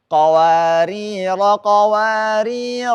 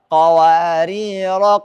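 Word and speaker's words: قَوَارِيرَا: Kalau wasol tidak dibaca. Kalau waqaf dibaca panjang. Kalau kata yang kedua, baik wasol maupun waqaf tidak dibaca. Tapi kalau kita berhenti jadi sukun. Perhatikan. Yang pertama saya sambung ya. Qawarira min fiddah. Yang kedua, qawarir. Yang ketiga, qawarir. Yang keempat, qawarira min fiddah. Udah 4?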